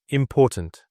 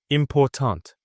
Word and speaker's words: important: The word important. Im-POR-tant. The middle part is louder and longer. Pour. Im-POR-tant. Say it with me.